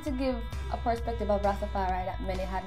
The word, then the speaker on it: Rastafari: Is that how you pronounce it? It's really not Rastafarianism. Tell me. Rastafari.